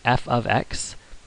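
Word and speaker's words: f(x): Again, you pronounce it f of x. This is not multiplication, but instead f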